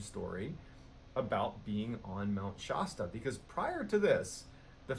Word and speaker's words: Shasta: Shasta.